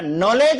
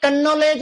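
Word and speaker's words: knowledge: नॉलेज है कनलेज है ये नहीं पता पड़ रहा।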